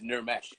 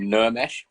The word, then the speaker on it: Nirmesh: So my real name was Nirmesh, which is Nirmesh. And then growing up in Birmingham, people couldn't really pronounce the ir, so Nirmesh became Nermesh in an anglicized fashion. Nermesh.